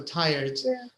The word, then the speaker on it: tired: no actually tired tired so it's not it um it's just D only so tired but excited interested correct